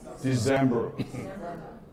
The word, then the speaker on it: December: made the man so December or December where is the stress the stress on the second syllable December I'll be late G